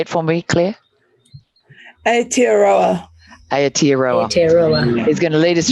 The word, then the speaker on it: Aotearoa: Beautiful Claire from, it's terrible, I can't say Aotearoa. I'm not used to saying that. That's so bad. That was a terrible pronunciation. Can you say it for me, Claire? Aotearoa.